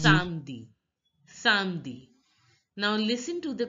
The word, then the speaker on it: samedi: Saturday is pronounced as samedi. Samedi. Notice that the A sound in French, the A sound is A sound. A is pronounced as A. So it is Samdi.